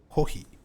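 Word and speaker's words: コーヒー: Kohi is how you say coffee in Japanese. Kohi.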